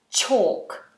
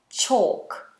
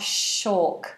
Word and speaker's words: chalk: going to need chalk pay attention to the pronunciation chalk chalk so it's not a shock which is sometimes What